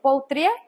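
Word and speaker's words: Pautrier: Se lee Poutrier, se escribe como está ahí, Poutrier.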